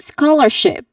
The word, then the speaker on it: scholarship: Which is of course wrong. Scholarship. Um because the stress here is on first syllable.